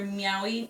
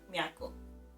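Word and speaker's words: Nyaako: Yeah, she's ready for Meowy to be rescued. Yes. You were just saying that it's not Meowy how they say it, it's Miyako. Right.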